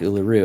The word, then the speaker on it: Uluru: Uluru, I guess it's like think Australian kangaroo, right? Kangaroo. Uluru. That's kind of how you say it.